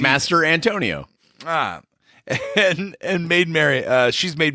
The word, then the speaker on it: Mastrantonio: I've been saying Mastrantonio. Mastrantonio. See, it's easy when you say it like that. Yeah, it's like easy. Master Antonio.